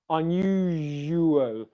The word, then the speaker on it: unusual: piecing them all together unusual unusual you might coming out of that j sound might be a bit challenging okay unusual unusual okay